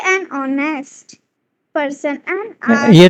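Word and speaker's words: honest: N umbrella आ गया बैठ वी से एन ऑनेस्ट person and are because the एच इन ऑनेस्ट एंड are silent ऑनेस्ट is pronounced eight S वंस एंड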